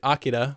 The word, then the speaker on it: Akira: It's from the original dub, because in this they pronounce it Akira, which is the more correct pronunciation.